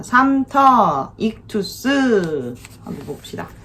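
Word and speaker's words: ΙΧΘΥΣ: 이거는 익투스라고 읽습니다.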